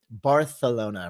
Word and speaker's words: Barcelona: Oh, greetings from Barcelona. Or I should say Barcelona, right? That's how they say it.